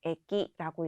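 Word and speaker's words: 駅: 또한 이 한자 같은 경우에는 쇼라고 장음으로 발음되는 것이 아니라 단음 쇼라고 발음되는 점 유의해 주시고요. 하단으로 내려와서 역 보도록 하겠습니다. 자, 역은 일본어로 에키라고 읽습니다.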